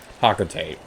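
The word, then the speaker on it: Hocotate: Officially it's Hakotate? That's how they pronounce it in Super Smash Bros. For Palutena's guidance? I don't like that pronunciation. I think it's stupid. So, I'm going to be pronouncing it however I like to pronounce things. That's how I've always pronounced it. Hakotate Freight sounds a lot more catchy than Hakotate Freight. I don't like the pronunciation Hakatare.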